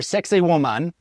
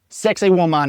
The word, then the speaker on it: Saqsaywaman: The name is Saqsaywaman. I think I'm saying that right. Yes. It kind of sounds like sexy women. I've tried to pronounce it several different times. I'm pretty sure Saqsaywaman is, is the pronunciation.